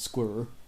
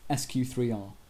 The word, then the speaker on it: SQ3R: be really important to us except it's not pronounced squir it's pronounced sq3r and it's an acronym each letter refers to